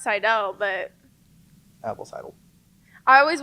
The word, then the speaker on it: Seidel: Well, it's not pronounced Seidel. It's actually pronounced Seidel, but Apple Seidel.